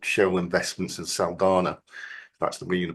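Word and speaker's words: Saldanha: The standard case on it is a case I think I mentioned called Shell Investments in Saldana. That's the way you pronounce it, back in the 1976, I think,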